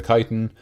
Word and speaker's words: kyton: those words so they keep calling it a chitin which is spelled k-y-t-o-n um and then it's